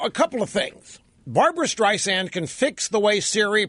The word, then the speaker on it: Streisand: It calls her Streisand instead of Streisand. The soft S is pronounced as a Z by Siri.